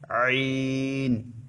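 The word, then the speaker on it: ع: দুইটা অক্ষর উচ্চারিত হয় আইন হা গলাকে একটু চিপে উচ্চারণ করতে হবে আইন হা আইন হা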